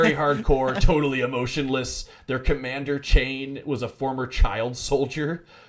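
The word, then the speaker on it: Chayne: It's spelled C H A Y N E. Correct. Yeah. Right. Yeah. Chain.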